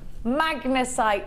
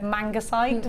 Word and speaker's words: magnesite: You are getting wonderful orange magnesite. Now this, do you know what? Magnesite, it's been spelt wrong on my thing and I nearly said mangasite, which is what it spelled like.